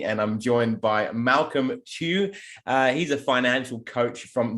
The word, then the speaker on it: Tew: It is Tew, isn't it? Malcolm Tew is how I pronounce it. Yep. Tew.